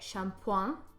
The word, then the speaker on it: shampooing: so Shampoo ing but it's pronounced like "champwan" or something to that effect and it means two